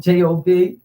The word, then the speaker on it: Job: i'm in trouble today i know it's job not job but it doesn't matter